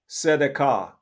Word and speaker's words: Sedekah: It's pronounced just as how you read it. Sedekah.